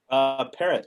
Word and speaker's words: Parrot: Parrot, like the bird. It's spelled Parrot. different, but it's pronounced parrot.